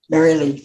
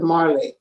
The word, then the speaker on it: Marilee: Marilee, just like it. But but a lot of people pronounce it Marley. They don't see the I.